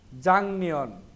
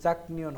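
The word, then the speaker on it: 작년: শুরু বলতেছে জনুন আমি, জাংনিয়ন, এটা কিন্তু জাকনিয়ন হবে না, গিয়ক বা ছেমের পরে নিয়ন থাকলে গিয়কটা ইয়ং হয়ে যাবে, তাহলে সঠিক উচ্চারণ হবে জাংনিয়ন।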